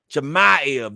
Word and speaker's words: Chimaev: Chimaev, that's his name.